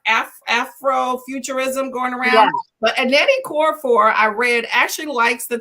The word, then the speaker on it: Okorafor: Okorafor. Am I saying it correctly? I can never say Okorafor. It sounds good to me.